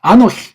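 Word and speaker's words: אָנֹכִי: 이거 발음이 아노키라고 하잖아요. 아노키. 여기 또 카프에 점이 없으니까, 아노히. 정확하게 발음하면 키를 부드럽게, 아노히. 그렇다고 해서 흰 아니고 키를 부드럽게 아노히. 정확히 하면 그렇단 말이에요.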